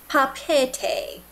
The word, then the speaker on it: Papeete: It's pronounced Papeete. It sort of seemed like he kind of emphasized the second E in there, Papeete, but really blended it very well, so it was kind of like Papeete.